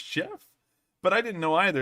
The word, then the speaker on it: Geoff: Geoff is pronounced just Jeff.